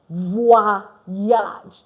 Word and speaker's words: voyage: It's not voyage. It's voyage. Voyage. Why? OI is already wa. So VOY is voix. And it's not age because A is A in French.